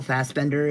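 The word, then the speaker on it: Fassbender: Isn't it Michael Fbender? Isn't that how you pronounce his name?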